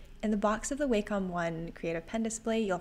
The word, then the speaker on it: Wacom: I really like the wcom line although I've heard that it's actually Wacom so I might be pronouncing that wrong we've always said wcom in my family and we're all like